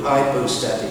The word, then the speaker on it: hypostatic: The hypostatic union is two big words, or at least one big word, hypostatic, 4 syllables, it's Greek.